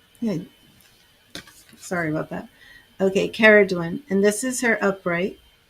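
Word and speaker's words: Ceridwen: It's not Saradwin, which it looks like.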